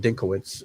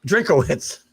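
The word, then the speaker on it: Drinkwitz: football coach, underrated in Dinkowitz. And I probably just said his name wrong. Let me fact check myself on the Missouri head coach. Am I close? Drinkowitz. I do that all the time.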